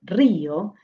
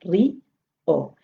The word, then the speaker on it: río: el énfasis, río, entonces hace que se sienta fuerte y se separe de la otra vocal que ya es fuerte de por sí, porque se vuelve fuerte. Entonces no es un monosílabo, sino que es una palabra de dos sílabas, ri, o.